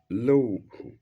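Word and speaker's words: Lauh: tablet, into brackets, law, low, mahfuz, low, mahfuz. Into brackets, low is Arabic word written in English and therefore it's in italics and it is spelled capital L-A-U-H.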